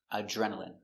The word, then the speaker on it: adrenaline: adrenaline adrenaline a j Remember, d r together make the sound j So again, a j